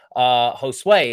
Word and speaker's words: Josue: So we're going to be interviewing Josue is how you actually pronounce his name.